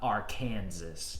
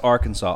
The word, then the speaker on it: Arkansas: mater down in uh our kansas if you wish greg it's pronounced arkansas austin um great points